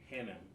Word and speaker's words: Hannam: enjoy today's show today with me Dr Paul Hanam did I pronounce that correctly yes sir perfect awesome awesome